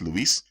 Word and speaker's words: Louis: Most of the time his name is Louis, or Louis as you pronounce in French, and that's how the Kingdom of France operated.